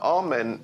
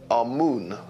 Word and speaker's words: Amun: Now, Amen is the pronunciation that the Hebrews give it, and some scholars agree to use that pronunciation. Amun is the pronunciation given to it by one of the old European scholars, Plutarch. In the language of Kemet,